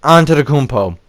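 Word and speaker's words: Antetokounmpo: and ask Yanis like how I pronounce his last name it's Yanis onto the compo but anyways 96 for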